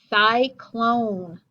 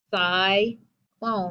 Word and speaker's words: cyclone: Cyclone. Open syllable, but C sounds like an S. Cyclone with the vowel consonant E.